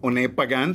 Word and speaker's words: Pagán: having fun uh well uh my name is pagan thank you for saying it right by the